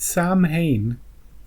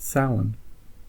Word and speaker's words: Samhain: sound the end of summer yeah don't don't pronounce it Samhain that's it's it's pronounced sound that's oh that's that's funny look Irish words